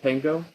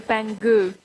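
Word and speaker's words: pengő: Pengo? The old currency. Is it pengo? Well, it's actually pengu. Pengu, thank you.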